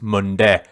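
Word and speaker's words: Mundeh: Monday club Monday club actually it's spelled m-u-n-d-e-h I suppose it's Monday club as they say here in Leicester anyway that's Ferris and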